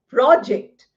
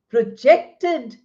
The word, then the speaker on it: project: The noun gets accent on the first syllable, verb gets accent on the second syllable. So we say project.